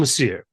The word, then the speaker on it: Le Sieur: Our focus today is on the score and my guest is the composer FM Lassir. FM, welcome to Below the Line. Hi. Perfect. The pronunciation was perfect.